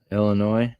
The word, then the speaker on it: Illinois: You got a few roads like that in Illinois. Huh? You don't pronounce the S in Illinois. Oh, Illinois.